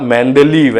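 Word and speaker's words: Mendeleev: बता रहा हूं कि हार्ड ड प्रोनाउंस नहीं होता, द होता है। तो द मतलब मेंडलीव ऐसा नाम था।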